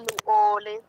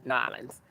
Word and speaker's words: New Orleans: I'm from New Orleans. No, no, they call it. They told me it's not that. No, Nolans. they It's said it Nolans. Nolans. Yeah, Nolans. It's two words. Nolans.